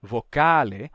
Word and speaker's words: vocale: é durum duro mas na palavra vocale ou vocale esse U não é vogal ele é uma semiconsoante ele não é uale